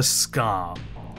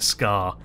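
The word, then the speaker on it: Skaarj: The Scar. Spelled S-K-A-A-R-J, but apparently pronounced like Scar.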